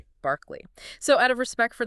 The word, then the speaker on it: Berkeley: Because if you are listening to this in America and especially in California, you're probably thinking of the famous university city Burke Kylie, right?